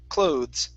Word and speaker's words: clothes: clothes instead of clothes the e is silent clothes clothes okay very nice